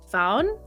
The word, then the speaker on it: Faun: I've I'm forcing you to watch so the pronunciation I just want to make sure it's called found found and the reason I know that is